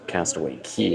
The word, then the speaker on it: Castaway Cay: because it says best K ever but they've trained you to say Castaway key is the pronunciation the correct pronunciation of the island so for this shirt